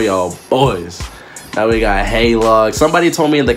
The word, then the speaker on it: heylog: another reaction for y'all boys now we got hey log somebody told me in the comments uh the last hey log video that is pronounced hey log because his name's Logan and that's true and